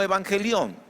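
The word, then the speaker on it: εὐαγγέλιον: ¿Saben cómo se pronuncia en griego? Algo así como evangelión.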